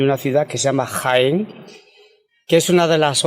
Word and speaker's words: Jaén: Caen, es decir, que de mi ciudad natal, Jaén, le podemos sustituir la J de Jaén por una C y ya tenemos la ciudad de Caen, la pronunciación, y sin embargo Jaén, con respecto a Caen, tiene un acento escrito.